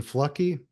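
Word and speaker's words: Fluckey: Thunder below and the author is Admiral Eugene flucky I think is the is the right way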